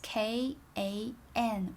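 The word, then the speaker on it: 看: to look p is k a n with four stone mark without a tome the pronunciation is kan the tone is fourth tone which sounds like ao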